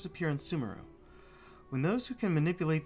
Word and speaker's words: Sumeru: I've been calling it Sumeru this entire time, but I guess the emphasis is on the E.